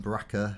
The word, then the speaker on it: Bracca: On Bracca, which is a never before seen planet in the Baracca. Bracca. Fizzy, when you're feeling a bit down. To rhyme with Chewbacca.